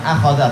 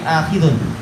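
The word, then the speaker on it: آخِذٌ: Ini cara membacanya, bukan akhadha tapi akhidun.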